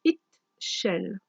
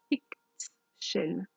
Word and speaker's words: Ixchel: Alors, ça se prononce Ixchel. Ixchel.